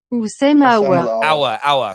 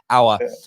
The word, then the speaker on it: Aouar: It's Aouar. Sorry, I'm going to get that right. I'm going to hours in like hour class. Aouar.